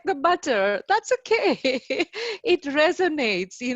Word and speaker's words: Buttar: here uh and i also thank you for pronouncing my surname so correctly most of the people call instead of butter they call me butter and i always take it i take it